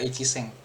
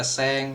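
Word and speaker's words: 千: Kalau 1000 bacanya seng doang sih. Harusnya 1000 bacanya seng doang. Goj seng. Ini seng 1.000 enggak ada ichi seng goju seng 50.000 R51.000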